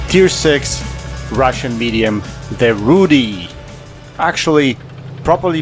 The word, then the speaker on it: Rudy: long back it's tier six Russian medium the Rudi actually properly pronounced as Rudi the tank is based on a Polish TV